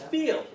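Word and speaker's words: viel: not a real word it's feel v i e l feel and then the v's are pronounced with f and we'll get into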